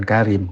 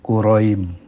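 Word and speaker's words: كريم: Syekh Quraim bukan Karim, Quraim. Pakai kaf tapi bacanya Quraim.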